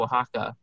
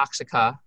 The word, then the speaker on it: Oaxaca: And that brings us to our next cheese, the queso Oaxaca. It's not Oaxaca. I pronounce it that way for you. I'm joking. But, if you never knew, that's probably how you'd be pronouncing it.